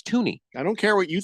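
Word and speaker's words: Thuney: it's FY no it's Tony I don't care what you think I'm telling you it's tun there's an H I'm pronouncing it but the H is silent A Silent Assassin okay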